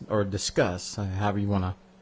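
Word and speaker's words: Disqus: that's uh that rivals discus or discuss however you want to pronounce it people pronounce it discuss because you're discussing things but I like to say discus because I want to be mean anyway I installed intense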